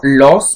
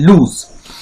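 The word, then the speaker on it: lose: অথবা লস, এই যে এল ও এস এর উচ্চারণটা কিন্তু লস নয়, তো এটাতে আসছি, এটার উচ্চারণ আসলে লুজ, এল ইউ জেড যেমন উচ্চারণ হয় লুজ, সেই রকম।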